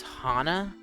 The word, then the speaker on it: Hana: It's Hana. I've been saying it wrong the whole time.